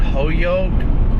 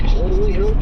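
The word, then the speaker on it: Holyoke: 15 right between was that Hoyoke? Is that how that's pronounced? Jaden and Imperial. Yep. Holy Oak is correct. Holy Oak. Got it. I didn't see the L.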